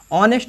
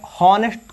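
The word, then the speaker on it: honest: देखिए ऑनेस्ट मैन, देखिए इसमें हॉनेस्ट कौन को पड़ता है, कौन हॉनेस्ट बोलता है, हॉनेस्ट मैन, हॉनेस्ट नहीं होता है, एच साइलेंट होता है, ऑनेस्ट होता है।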